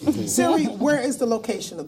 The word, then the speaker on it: Siri: Siri. Siri. Siri. C-I-R-I. S-I-R-I. S-I-R-I. Yeah. Just almost like the...